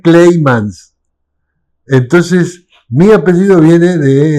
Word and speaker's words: Kleijmans: Que se escribe con C y con J. Entonces, la transcripción literal es Kleijmans. Claro. Pero la pronunciación es Kleimans.